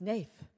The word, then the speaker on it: Snaith: we were starting us it sounds it's rhymes with faith it's Nathe and I still got